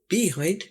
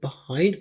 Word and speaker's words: behind: बताते चले, ये है ई को अमूमन आ की तरह प्रोनाउंस किया जाता है। बहुत सारे अंग्रेज लोगों को बात करते हुए सुना है, वो बिहाइंड नहीं बोलते बल्कि इसको behind बोलते हैं, जैसे यहाँ पर आ की आवाज हो, behind।